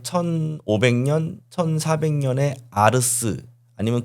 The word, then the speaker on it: ars: 왜냐면 제가 왜 이렇게 보냐면은 라틴어에서 아트를 아르스라고 발음을 했거든요. T가 아니라 스 발음이었어요. 그러니까이 아트라는 말은 한 1500년 1400년에 아르스 아니면 그 더 이전에 아르스라는 말이 변형돼서 프랑스에서 아트라는 말이 된 겁니다.